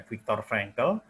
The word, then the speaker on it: Viktor Frankl: Ya, karena pengalaman ini seorang psikiater, dalam pengalaman dia hidup dalam camp-camp itu, dia bernama Viktor Frankl, bacanya gimana? Viktor Frankl.